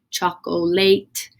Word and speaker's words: chocolate: But chocolate is a little bit different, doesn't exactly sound out like it should. Chocolate. So it is pronounced chocolate for you to read.